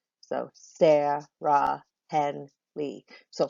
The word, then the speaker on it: Sarah: I could say Sarah or Sarah. One's my name and the other is not. I say my name Sarah. So which one gets the most emphasis? It's the first syllable.